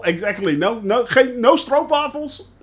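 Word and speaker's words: stroopwafel: not as troop awful I'm sorry it's not a screw waffle it's it's a stroke waffle that's how you actually pronounce it stroke bottle or molasses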